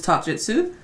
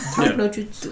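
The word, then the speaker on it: Talk no Jutsu: Is it just Lelouch's talk jujitsu? Talk jujitsu? How do you say that? Taknojutsu.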